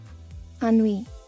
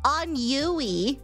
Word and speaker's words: ennui: Ennui.